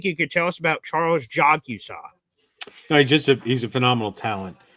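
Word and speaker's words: Charles Jagusah: It is Charles Jogusaw. He is a Notre Dame offensive lineman, a big boy, and he says, I hope we draft Charles Jogusaw, is how you pronounce it according to Charles.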